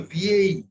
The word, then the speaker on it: vieille: জুমিয়ে হচ্ছে VA because I have told you that ILLE is pronounced like Dirgho E. You remember? Dirgho E, E, E, E. This is like the second one. So VAE.